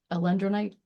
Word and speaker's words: alendronate: The bisphosphonates, I am not good at pronunciation. The key medication here is alendronate.